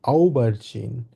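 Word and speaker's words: Aubergine: Germany বলবো হচ্ছে দি আউ বার্জিন দি আউ বার্জিন এ আর ইউ মিলে আউ হয়েছে আউ বার জিন আউ বার্জিন ঠিক আছে ওকে কেউ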